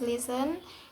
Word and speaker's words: listen: T is silent in words ending in "stan". For example, the first listen becomes listen, glisten becomes glisten, moisten becomes mason, hasten becomes hasten, and fasten becomes fasten.